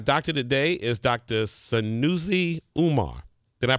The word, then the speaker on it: Umar: Wednesday and our doctor today is Dr szi Umar did I pronounce it right yes right that's right he's